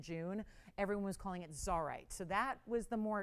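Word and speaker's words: Csarite: And they wanted Zarite. So CS is how it's spelled, C-S-A-R-I-T-E.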